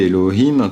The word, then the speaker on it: Elohim: le mot ho Kim on le prononce Elokim même si on le lit Elohim quand on va pas faire